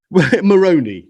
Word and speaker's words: Moroni: Moroni, yes, Moroni. Yes. Moroni, yes. Or I mean, that is how it is pronounced by them.